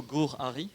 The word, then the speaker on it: Gur-Arie: So we have the great luck to listen to Rachel Gur-Arie. Is that how you pronounce it?